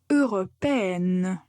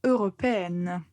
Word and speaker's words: européenne: Européen, européenne. Donc, quand vous prononcez le féminin, il faut bien mettre l'accent sur la lettre N. On doit bien l'entendre, européenne.